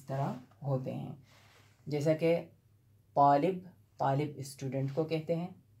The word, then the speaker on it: ط: الطا، یہ حرف ہے طا، اور اس کے بعد جو حرف آتا ہے ظا، دونوں بالکل سملر ہیں، غور سے سنیے، طا اس طرح تلفظ اس کا ہوتا ہے طا، اور جب اس کے